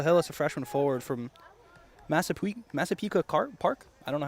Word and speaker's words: Massapequa: number 6, Michael Hillis, a freshman forward from Massapequa Park. I don't know how to pronounce that. Massapequa, it's on Long There Island.